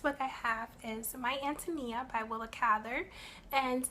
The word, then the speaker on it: Ántonia: a lot that's what I have is my ántonia i Willa Cather and it's pronounced and to me as a ref Antonia